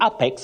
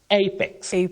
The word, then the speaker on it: apex: grammar and vocabulary so some people will say Apex because of what the eyes see without knowing that the first letter that is a takes its name as the sound in that word so you say apex not Apex okay thank you Willis